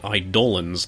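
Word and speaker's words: eidolon: cut scenes are also why I pronounced the chosen term for the summons as idolon and not idolan despite that being the proper pronunciation of that word people seem pretty apprehensive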